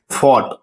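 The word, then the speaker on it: fought: इसी ढंग से फॉट, फॉट, फॉट में लड़ाई करना, तो यहां हम लोग देख सकते हैं इसका प्रोनाउंसिएशन फॉट।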